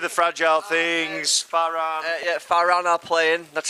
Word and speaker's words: Farran: Yeah, Farran are playing. That's spelled F-A-R-R-E-N. Farran.